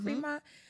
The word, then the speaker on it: Fremont: Is that how you say it? Fremont? It's in the word, free.